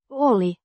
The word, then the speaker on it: oli: being in the Past pronounced oli with the stress on the first syllable huolellinen means careful digent